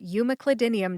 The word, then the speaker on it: umeclidinium: where we talk about Pharmacy topics including drug pronunciations I am your host and Ohio pharmacist Kim newv we're talking about umac clidinium today this is episode 298 what is umac